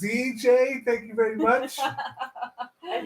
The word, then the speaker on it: CJ: not AJ yeah wait crap I got your name wrong QJ it's CJ thank you very much thank you for a